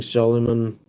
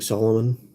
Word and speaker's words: Solomon: So they joined the likes of King Solomon, or King Solomon, depending how you pronounce it.